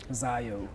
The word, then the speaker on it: Zaio: Zaio. Zaio, and can you spell that for me?